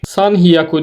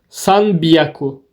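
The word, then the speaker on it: 三百: Yani 200 bizdeki gibi 300 de bir istisna var San hyaku değil de saku he'nin görüyorsunuz üst kısmında şöyle bir işaret var bu he B yapıyordu San biyaku şeklinde telaffuz ediyoruz 400 aynı yon hyaku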